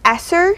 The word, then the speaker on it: ESSER: And so there's this survey out, and I believe it's pronounced ESSER.